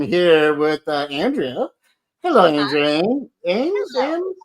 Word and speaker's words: Emmes: Ames, Hello. Ames, M's like Ames, M&M's, like the candy.